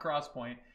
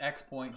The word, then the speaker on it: XPoint: here pronounced 3d crosspoint no it's not crosspoint its x point just like the iPhones